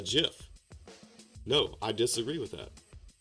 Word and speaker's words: GIF: I've always called this a GIF. So with a hard G would make it a GIF.